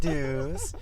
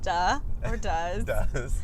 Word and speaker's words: Duhs: my name is dues not to be confused with duh not to be imitated or recreated the one the only like pay your dues you know but it is spelled like does oh whatever yeah it's